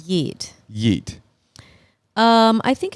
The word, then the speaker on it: yeet: Yeet. Usually pronounced like that, by the way.